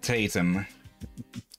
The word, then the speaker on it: Tatum: Yeah, their name, Tatum. Like Potatum.